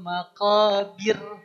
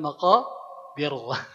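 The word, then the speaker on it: مقابر: Hatta zurtumul maqabir. Mangga maqabir. Heeh. Maqabir bukan maqir ya.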